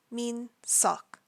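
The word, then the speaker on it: Minseok: real name is Kim Min sock again you pronounce the EO sort of in the back of your throat it's not an O it's not an ah it's all our next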